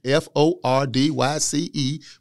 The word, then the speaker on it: Fordyce: You spell it F-O-R-D-Y-C-E, but you don't pronounce it like that. People, they'll call it Fordyce.